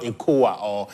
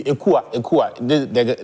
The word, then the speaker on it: Ekua: It is not Ekoa or any of the... Celestine Ekua.